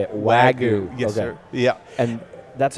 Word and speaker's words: Wagyu: Wagyu.